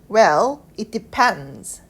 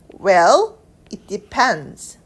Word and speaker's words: depends: 이 문장 전체의 발음을 보면 Well, it depends. 자, D랑 S가 만나면 Z 발음이 나는데요.